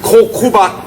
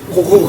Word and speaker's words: Kokuba: It's Kokuba Kosei. Kokuba Kosei, you might not recognize the name because I use the Okinawan pronunciation, but in English it's Kuniba.